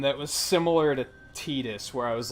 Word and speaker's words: Tidus: Honestly, that's probably why they pronounce it Tidus, is because that's probably the Japanese pronunciation, and they were just kind of like, that's what it is now.